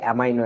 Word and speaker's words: অ্যামিনো: অ্যামিনো এই যে তুমি বলতেছো অ্যামিনো অ্যাসিড, কেউ কেউ বলে এটাকে অ্যামাইনো অ্যাসিড, একই জিনিস।